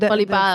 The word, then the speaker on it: volleyball: because volleyball, the Volleyball. vowel Okay. is too hard. The V we pronounce like a W, too strong for British. It's a soft vowel consonant in the beginning, Mm. volleyball.